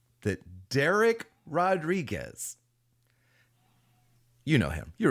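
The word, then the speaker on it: Dereck: Yeah, it's like wreck, you know, like wreck. Like, oh wow, that was a wreck.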